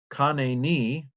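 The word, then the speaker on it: חָנֵּנִי: bit of grammar uh so let's see if we can pronounce it i had a hard time pronouncing it before we'll try it again kane knee be gracious elohim oh god be gracious to me oh god um the accent i think is on the second last syllable here uh according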